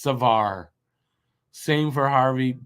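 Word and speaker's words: Savard: the end of saard is mute so it's pronounced Savar same for Harvey P so I I answered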